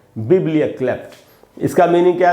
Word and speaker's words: biblioklept: इसको पढ़ेंगे दोस्तों बिब्लियोक्लेप्ट। बिब्लियोक्लेप्ट, इसको बिब्लियोक्लेप्ट नहीं पढ़ना है। इसमें जो स्ट्रेस है वो पहला बी में, पहला जो बी है, उस जो बड़ी ई है उसके नीचे मैंने उसको अंडरलाइन किया है।